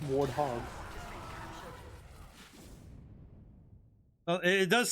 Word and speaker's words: warthog: growing up and um for every pronunciation whether it be in game or in the community it's warthog well it does sound